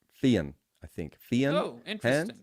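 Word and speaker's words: Fionn: I know about him is his name's not Finn and it's pronounced no no I know I know I know the way it looks but it's pronounced Fen I think Fen oh interesting yeah no no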